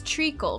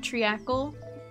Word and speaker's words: treacle: Oh, it's treacle, right? Not treacle?